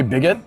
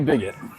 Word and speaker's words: Bigot: I work down at Bakery Bigot. It says bo in Japanese. So, I guess the T is silent.